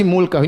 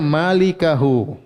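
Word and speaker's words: مالكه: Kalau begitu, illa ini harusnya sama dengan ini, Berarti mulkahu ini bacanya malikahu. Pemilik wajah yaitu huwa, paham? Tapi kalau kita baca mulkahu berarti salah baca karena dalam kitab Ma'mar bin Musanna illa huwa, paham?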